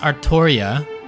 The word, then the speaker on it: Artoria: So I think how her name because her name is Arttoria, right? Or like Arthur Artoria. Um, actually, no. What's it? Cuz her name is pronounced Arttoria, but then it's localized to Altria because of how uh